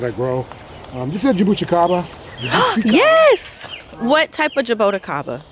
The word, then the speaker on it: jabuticaba: And he said it's jabuticaba. Okay. Jabuticaba. I know a lot of people say jaboticaba. Yes. But yeah, I think any way you say it is fine.